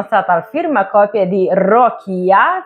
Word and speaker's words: Rokia: al firma copie di rokia Finalmente abbiamo capito che si pronuncia con la o aperta e e J Foster